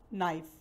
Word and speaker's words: knife: नाइफ में K silent है, लेकिन उसको, उसकी साउंड को कंप्लीट करने के लिए, वज़न देने के लिए KNIFE, नाइफ, नाइफ। के प्रोनाउंस नहीं होता लेकिन एक वर्ड को पूरा वज़न देता है।